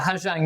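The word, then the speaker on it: Ha Giang: And I want to take you to the Hajang Loop. I I'm not sure how you pronounce it. How do you pronounce it? The Hang Loop.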